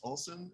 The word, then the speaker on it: Olsen: from bioag we have uh Eric augerson Alex Olson and Joshua Hedberg with us today thanks for joining us guys hopefully I pronounced your names right there ah you got